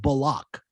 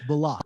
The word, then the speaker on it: Bullock: Because he just changed it and told the reporters that his name is pronounced Bullock. That's right. That's what that threw everybody for a loop. Bullock. My name is not Bullock, it's Bullock.